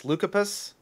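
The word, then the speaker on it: Leucippus: so it was uh i looked up how to pronounce this lucapus i think is how you pronounce it and democritus uh were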